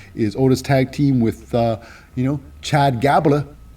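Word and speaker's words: Chad Gable: No longer is Otis tag team with, Chad Gabla. Rhymes with Tabla.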